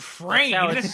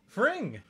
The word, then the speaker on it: Fring: Why is it's Fring, like sing.